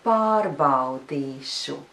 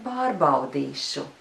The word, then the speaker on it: pārbaudīšu: Es jūs šodien pārbaudīšu. And now I'll say it faster. Es jūs šodien pārbaudīšu.